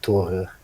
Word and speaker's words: Thor: it is more like thor is the uh the english pronunciation but uh uh would be something more like toru that's nice yeah totally